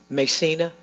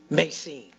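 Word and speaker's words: Macene: Macina? Macine. Okay, Macine.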